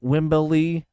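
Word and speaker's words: Wembley: Does he say Wimbley the correct way with three syllables like Hulk Hogan does as well?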